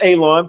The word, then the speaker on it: Alon: But Miss Paka um my name is Alon pronounced like you're going to cut grass like you're going to cut a lawn.